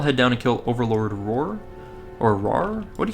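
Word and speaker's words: Ror: down and kill Overlord roar or raar what how do you say that r o r I'd say Roar and then run back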